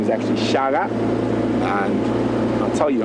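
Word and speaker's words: Shaka: h a k a but Zulu a is pronounced as a g so his name is actually Shaga and I'll tell you how he got his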